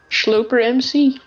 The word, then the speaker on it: Schloper: Schloper MC. I still cannot pronounce it. But, it's like a tongue twister. It's like S H L O W P E R. That's how you would pronounce it.